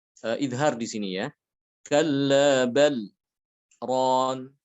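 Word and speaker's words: كَلَّا بَلْ رَانَ: Kalla bal ron, lamnya dibaca jelas. Untuk Hafs Thariq lain, Thariq selain daripada Syatibiyah, itu ada yang membaca dengan idgham sehingga dibacanya kalla barron.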